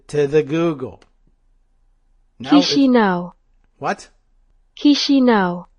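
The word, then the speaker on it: Chișinău: Chisinau. Chisinau. Like, what would you like to eat? Chisinau.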